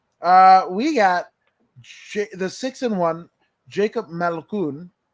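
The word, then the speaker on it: Malkoun: We even learn how to pronounce his name correctly. So it's Malkoon.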